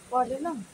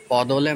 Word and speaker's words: पलोलम: हैं पलोलम? पौदोलम नहीं, पलोलम।